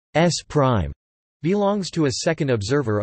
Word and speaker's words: S′: Frame S belongs to a first observer O, and frame S, pronounced S prime, belongs to a second observer O.